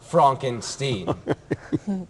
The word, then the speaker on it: Frankenstein: sure that's frank enstein my name is pronounced frank enstein you know master my